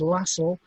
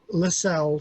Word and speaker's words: Lassell: mention first of all the correct pronunciation of a surname is lasso to to rhyme with the word hassle but I prefer lacell so if you forgive